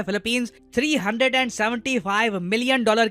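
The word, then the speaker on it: Philippines: देश को जी हां इस कंट्री को फिलीपाइन नहीं प्रोनाउंस करते इसका नाम है फिलिपींस 375 मिलियन डॉलर की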